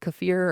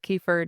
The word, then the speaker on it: kefir: So you can eat yogurt, kimchi, um there's a yogurt drink called kafir or kefir depends on how you say it or what you want to say.